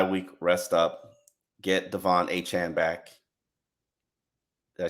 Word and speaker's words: Achane: Get Devon Achane back.